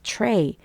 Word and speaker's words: tray: 트레이 어 트레인데 그렇죠 추라고 발음을 하는 이유는 t 뒤에 R 붙었을 때는 이제 추 발음이 돼 그래서 tray tray 이렇게 발음을 하시면 됩니다 Tree 이런 것도 마찬가지